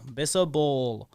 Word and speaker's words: Bisabolol: Bisabolol. So I said it in three syllables.